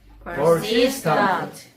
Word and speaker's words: persistent: persistent, persistent. 정확히 발음하려면 그냥 persistent가 아니고 R 발음 약간 하려면 약간 이런 발음해야 돼. R은 입천장에 달까 말까.